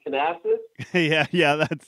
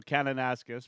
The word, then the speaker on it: Kananaskis: I'm probably going to butcher the name, Canassus. Yeah, you butchered it. Close. So I was- Eric's a Saskatchewan boy, and so Kananaskis.